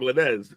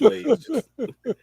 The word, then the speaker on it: Lanez: I mean, it is spelled like Lanez, but it's Lanez.